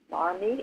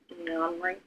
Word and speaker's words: Mamre: But how do you pronounce that? Marmy? It looks like M-A-R-M-E, not Mamre. Mamre. Yeah, Mamre.